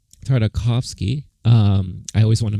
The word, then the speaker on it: Tartakovsky: was helmed by famed animator um gandhi uh tartakovsky tartakovsky um i always want to make sure i